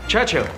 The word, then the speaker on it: Churchill: James's visit with Churchill Churchill that's how you say it all together like that I'd heard church and Hill but couldn't find either all I could see